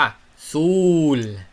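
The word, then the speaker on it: sol: ถัด มานะ สระ อูเนาะ สระ อู สะอู คือ เสียง ยาว ตัว อูเนี่ย บาง ที มัน ก็ ออก เสียง โอะ โอ เนาะ อู อุ เสียง ยาว อย่าง เช่น คำ ว่า ซูล เห็น มั้ย ออก เสียง สระ อูเนาะ ซูล แปล ว่า ดวง อาทิตย์ เนาะ ถ้า เป็น เสียง สั้น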